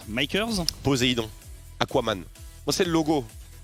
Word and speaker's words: MKS: alors du côté des mk est comme ça se prononce makers poséidon aquaman c'est le